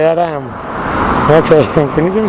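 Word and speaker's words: Edam: It's spelled E-D-A-M, and I can never say it right. No, what is it? I don't even know what it is in English. And in Castellano, and I don't say it like them. No, so I know. I point to the cheese, and it's that one. So I don't have to do this again. And I can never say it right. Hate them, they say Adam.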